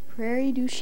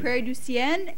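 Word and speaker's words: Prairie du Chien: town right your pardon Prairie Du that's the way people in Prairie pronounce it yeah if you were French you would prounce it Prairie duen nobody would know where you were from and I would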